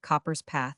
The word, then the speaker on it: Cockburn's Path: A deep ravine called Cockburn's Path, or, as Oliver pronounced it, Copper's Path, about 40 feet deep